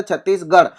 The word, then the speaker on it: छत्तीसगढ़: हैं हिंदी के अंदर छत्तीसगढ़, और ड़ का जो इंग्लिश जो होता है वो होता है डी एच, लेकिन यहाँ पर डी एच नहीं आर एच लिखते हैं क्योंकि उच्चारण में लिखते हैं गर।